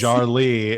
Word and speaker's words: Jarlee: Does anyone really know what Jarlee is? Jarlee is the correct pronunciation of it.